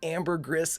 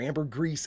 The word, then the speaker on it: ambergris: And today we'll be watching Star Trek the animated series season 1, Lucky episode 13, the Amber Gris Element or Amber Grease Element, depending upon pronunciation.